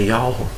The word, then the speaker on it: Yahweh: É um lugar onde que está o tetragrama sagrado, que é Yud Re Vav Re, que transliterado é YHWH, e a pronúncia é Yahweh, foi trocado por Deus, Senhor, e vários outros assuntos, né?